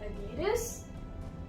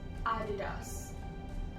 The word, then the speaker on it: Adidas: Now, just to show you comparison between the British and the American accent, in American you say it as Adidas, Adidas, whereas in British you say it as Adidas, Adidas.